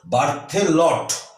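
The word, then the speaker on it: Berthollet: করেছিলাম, তারটি ছিল কিন্তু বার্থেলট এটা ওটি, বার্থেলট সেটা ছিল। এটা হচ্ছে বার্থোলেট, এটা লট, এটা লেট, আর বার্থ, এটা বার্থে আগেরটা, দেখবি বানানটা কিন্তু ডিফারেন্ট।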